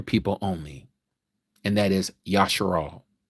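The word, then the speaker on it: ישראל: only, and that is Yasharal. That is Israel, as you may know it in the translation of how you pronounce it. Yasharal is the original.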